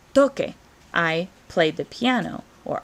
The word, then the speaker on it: toqué: So we want to make sure we change that C to a QU in the first present tense, or past tense in preterite to make sure that it matches phonetically and it sounds right. So we wouldn't have tose. Tose means to cough. We have toque.